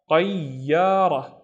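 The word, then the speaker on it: طيارة: The first syllable is tayi. So, ta, the heavier version of ta. Tayi, don't forget to pronounce the ya. And then ya, ra. Tayyara, tayyara, which is an airplane.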